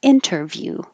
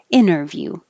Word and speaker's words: interview: previously previously this one another n before the t the t is in the unstressed syllable so you don't have to say it you can say interview or no t interview i have an interview